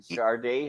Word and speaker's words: Sade: You don't pronounce it Sade. I remember buying her album in New York and it had a sticker saying pronounced Sade because people were calling us, you got that new album by Sade? Yeah. Well, then why is it spelled S-A-D-E? Well, I'm so glad you